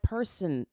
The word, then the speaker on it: Kirson: I'm like Kirson, like person.